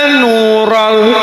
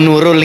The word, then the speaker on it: Nural: Marhaban ya nurol. Jangan ucapkan "nurul," ya? Bukan "nurul," oke? "Nurol," oke.